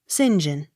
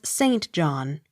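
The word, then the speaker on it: St John: j o h n sinjin as regards christian and surname but as saint john when applied to church or locality s e y m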